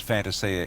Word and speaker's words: Fantasia: It is pronounced Fantasia in Italy, and that's how they would pronounce it. Here in Australia, we are different, and we pronounce it the way we...